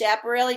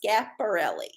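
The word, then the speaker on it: Schiaparelli: pulled a card and i said it was chaparrally no it's pronounced scaporelli and i only knew that because i found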